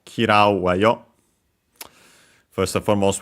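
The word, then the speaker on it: 嫌う: Last but not least, we have the verb kirau, to dislike, to hate. Should be unaccented.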